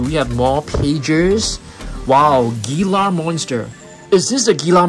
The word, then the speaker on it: Gila: got um do we have more pages wow gilar monster is this a gila monster I think so guys The Gila monsters pronounced as dealer dealer is a large venomous lizard that leaves